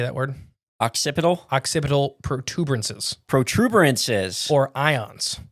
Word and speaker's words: occipital: Occipital.